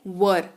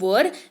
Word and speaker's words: were: जी हाँ, वॉज हमने पढ़ा, अगला वर्ड है वर, WERE वर, जिसका मतलब होता है, सबसे पहले तो उच्चारण सही कर लीजिए, ठीक है। वेयर नहीं पढ़ते हैं इसको, वर पढ़ते हैं, पहली चीज, ठीक है।